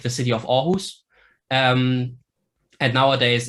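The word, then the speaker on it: Aarhus: Danish were written with a double A but pronounced or like the city of orus um and nowadays it's basically the those two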